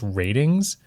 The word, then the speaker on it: RTINGS: May, a website called, I believe it's pronounced Ratings. It's RTINGS. And they did a test